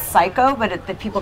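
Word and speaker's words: Syco: I think it's pronounced Psycho, but the people call it Cisco. No, it's Psycho.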